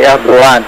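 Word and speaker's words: Erdoğan: En turc, c'est Erdogan. D'accord. Le G se prononce en H.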